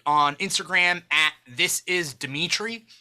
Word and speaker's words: Dimithri: If you want to follow me specifically as an individual, you could follow me on Instagram at This Is Dimitri, and that's DIMITHRI. The H is silent.